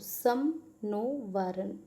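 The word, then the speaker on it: शं नो वरुणः: फिर कहते हैं द एंबलम ऑफ़ the Indian navy contain the motto सम नो वरुण अह वरुण यानी कि pronounce सम नो वरुणा which means इसका मतलब होता है बी ऑस्पिशियस टू अस।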